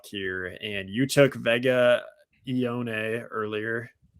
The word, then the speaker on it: Ioane: That's the way it goes, So we got the Chargers on the clock here, and you took Vega Ioane earlier. Ioane. Sorry, that's how you say it.